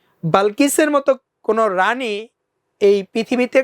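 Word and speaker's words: Balkis: করবে never queen like বালকিস এই উচ্চারণটা হবে বালকিস আমরা কে আমরা ঐতিহাসিকভাবে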